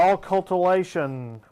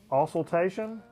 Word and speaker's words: auscultation: is This is going to be a beautiful Occultation of the Heart. How do you say that? rhythm of the heart. Auscultation?